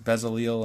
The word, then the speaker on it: Bezalel: Then Moses told the people of Israel, the Lord has specifically chosen Bezalel, son of Uri. Remember, because sometimes sometimes it's Bezaleel and sometimes it's Bezalel.